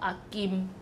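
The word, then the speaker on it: 阿妗: wife of your uncle, in Taiwanese is called akim. Akim. Did you see my lips when I, at the last syllable of akim, I closed my lips, right? Because it was ended with an M sound.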